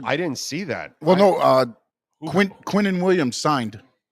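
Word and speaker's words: Quinnen: Quinton Williams.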